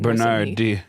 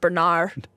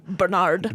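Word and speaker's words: Bernarde: In France, that just means you actually pronounce the last letter when Bernard instead of Bernard. Nice. Okay, it would be Bernard.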